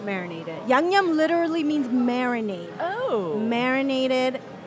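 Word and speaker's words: 양념: Yangnyeom. Say it Like correctly. yang, like Say it yang, correctly. and then yum. Yangnyeom.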